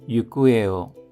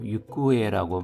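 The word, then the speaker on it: 行方: 우타가이데 육구에 행방이라는 발음에 주의해 주십시오. 육구에라고 발음이 납니다.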